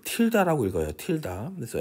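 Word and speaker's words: tilde: f 틸다라고 읽어요. 틸다.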